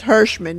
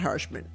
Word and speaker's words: Hershman: I get it right or Hershman yeah it's Hershman not Hershman okay and you can find her um well